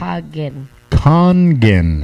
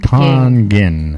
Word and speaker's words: Kangen: Tongan hot kangen right think of it like this right han geng han like a con artist yes han geng han geng here we